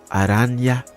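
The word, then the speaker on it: Araña: Aranya. That's how you say it. I see that little thing over the letter N.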